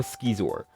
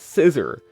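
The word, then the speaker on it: Scizor: I say it like Skeezor, that's how I've always said it, but others say it Scissor.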